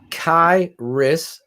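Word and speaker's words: Khyiris: yeah k-h-y-i-r-i-s six two three twenty five Shane pronounce kairis Tonga I did it right look at that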